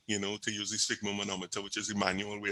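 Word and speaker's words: sphygmomanometer: How I pronounce it is just like say fig and put a S in front of it.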